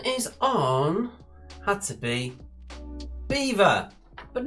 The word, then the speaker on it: Belvoir: kent or essex so it looks like belvoir but it is in fact pronounced beaver we were going to